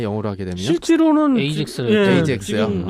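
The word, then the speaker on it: Aegis: 영어 그럼 발음이 이지스가 아니라 다르게 발음되나요? 영어로 하게 되면? 실제로는 에이젝스를 에이젝스요?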